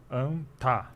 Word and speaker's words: Anta: E então a pronúncia seria anta.